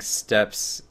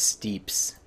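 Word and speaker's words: Steppes: it map stop it somebody triy to tell me it's pronounced Steeps burning Steeps pretty sure they're just completely wrong they stand in a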